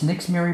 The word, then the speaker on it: Nixzmary: been like two big her I said that's Nick's Mary Brown and her name is spelled funny lee ni x z ma ry